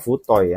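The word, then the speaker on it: 太い: Ini bacanya bukan Atsu ya, kalau ini bacanya mah Futoi ya.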